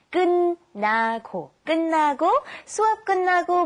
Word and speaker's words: 끝나고: And be careful of the pronunciation. We have 끝, but you pronounce it 끝나고.